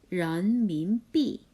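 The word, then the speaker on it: 人民币: 중국어로는 이렇게 발음해요. 런민비.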